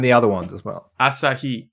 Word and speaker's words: Asahi: Asahi. It's all the syllables are the same duration.